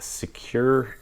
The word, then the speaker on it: SEQURE: But these brushless motors I am running with Secure ESCs, and that's spelled SEQURE.